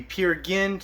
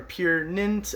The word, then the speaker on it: Peer Gynt: Marleen and then the Peer Gynt so are pure nint I've been told it's pronounced both ways we have as a